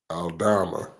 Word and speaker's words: Aldama: Alman Aldama.